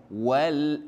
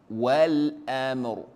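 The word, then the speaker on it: وَالْأَمْر: Bunyikan dia sebagai walam amr. Wal amr. Bukannya wal am.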